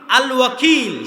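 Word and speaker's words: الوكيل: আল ওয়াকিল শুদ্ধ উচ্চারণ।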